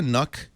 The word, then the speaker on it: NUC: So I think NUC rhymes with puck.